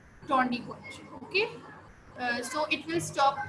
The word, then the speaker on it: tourniquet: Okay, it is not called tourniquet, it's called tourniquet. ठीक है, tourniquet, tourniquet. ठीक है, आप इसको कैसे प्रोनाउंस करोगे? टॉनिक. इसमें आपका जो लास्ट में जो आपका टी है वो भी साइलेंट है और जो आपका टी